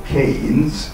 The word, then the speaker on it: Keynes: És kinél ülünk, ki ül mellettünk, illetve velünk szemben a vacsoránál, Milo Keynes, na most a Keynes megint azoknak, akik nem tudnak, nem ismerik a helyi kiejtést, meg kell magyarul, ez nem Keynes, ez a Keynesnek írt közgazdász, ez a Keynes.